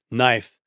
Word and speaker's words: knife: was originally kifa but we dropped the initial k because it's hard to say k and n together and we drop the final silent e.